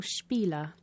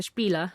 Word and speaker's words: spiel: The 'sh' sound at the beginning with the spelling 'sp' is not really common in English words, is it.